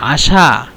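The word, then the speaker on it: عشاء: আর ওয়াল আশা আশা আশা বলবেন এখানে কিন্তু আইন আইন দ্বারা উচ্চারিত কিন্তু বাংলায় আইনটাকে উচ্চারণ করা যায় না। মানে আশা আইন দিয়ে বলবেন আশা আলাইক।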